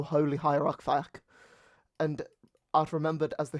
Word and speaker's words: Fiacc: Anyway, so our first entry for today is going to be Saint, I believe it's pronounced Fiacc, or Fiacc, and he is from the 5th century.